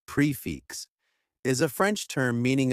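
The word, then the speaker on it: prix fixe: to increase romantic feelings Expressions explained prefixing say pronounced prefix is a French term meaning a complete meal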